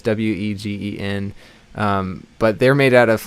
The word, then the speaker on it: Wegen: So I guess the Vagan picks don't really have that quality. I love the Vagan picks a lot. I hope I'm pronouncing that right. Some people say Wegen, and it's Wegen.